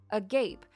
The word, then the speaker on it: agape: sounds like something else oh Agape oh sorry I said a gape why do I keep